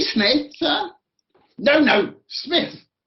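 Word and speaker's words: Psmith: called the name is smith p s m i t h p smith sir no no smith the p i should add for your guidance is silent as in psychiatrist or psychic the character of that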